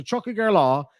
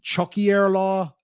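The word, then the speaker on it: Tiocfaidh ár lá: Some people pronounce it Chuckier law. I think up north, depending on the dialect, as I was talking about earlier, some people would say Chuckier law. Some people, I would say Chuckager law because I come from the south.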